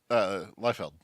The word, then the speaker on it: Liefeld: Liefeld.